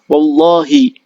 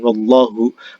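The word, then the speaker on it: وَاللّٰهِ: Jadi misalkan saya bilang wallahi, demi Allah. Jadi ketika saya memaksudkan adalah kita ingin mengatakan demi Allah, maka kalimat Allah itu harus dibaca jar. Wallahi, bukan wallahu.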